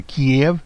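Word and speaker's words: Kyiv: Bolton visits Kiev, K-Y-I-V, that would be the pronunciation, scheduled for the 1st in Warsaw.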